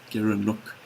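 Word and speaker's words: gerenuk: is certainly worth a Google and you can spell it g-e-r-e-n-u-k Garen look and they occur in uh in places like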